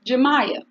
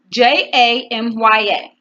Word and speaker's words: Jamya: how you pronounce your name and she said jamya and the house is spelled J a my a J a and why some people cannot pronounce